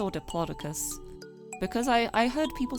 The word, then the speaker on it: Diplodocus: Now, do you say Diplodocus or Diplodocus? Because I heard people say Diplodocus a lot, and I'm like, it's a Diplodocus.